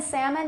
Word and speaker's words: salmon: palm almond now happen salmon they never have an L that's produced or that's sorry that's pronounced but palm almond can